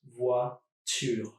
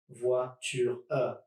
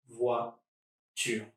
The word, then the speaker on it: voiture: See, I'm just doing 2 syllables, voiture, and not 3, voiture, doesn't work. Voiture.